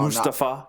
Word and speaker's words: Mustafa: Mustafa. No, Mustafa. That's I guess is like the correct pronunciation now.